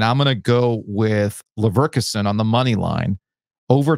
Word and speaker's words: Leverkusen: Leverkusen. That's how you pronounce it.